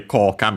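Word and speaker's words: 効果: But yeah, by the way, Koka means effect. Chinese compound accent on the first mora.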